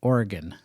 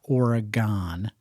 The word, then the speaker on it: Oregon: You got to pronounce it Oregon. That's what the locals say. Not Oregon.